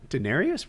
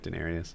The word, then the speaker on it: Daenerys: time I see daen am I pronouncing the name right Daenerys Daenerys yeah Daenerys most the time I see